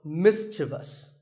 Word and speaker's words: mischievous: like in the word mischievous this is not mysterious there is no I after the V the last syllable is just thus so mischievous and then there are words